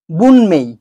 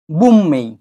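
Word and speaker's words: 文明: বন্ধুরা আমি এখানে লিখেছি বুনমেই বুনমেই কিন্তু যখন আমরা উচ্চারণ করব শব্দটা তখন এটা হয়ে যাবে বুম্মেই বুম্মেই কেননা এন এম এর আগে এসছে তাহলে হবে বুম্মেই এবার শেষ অক্ষর এবং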